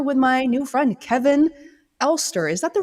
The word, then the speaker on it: Alster: my new friend Kevin ster is that the right way to say your last name Kevin uh I've been told it's German way back when so I I say ster but uh I think